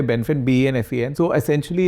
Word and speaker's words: Benfen: Actually, the Chinese pronounce it a different way, and I say it's Benfen. We say Benfen, B-E-N-F-E-N.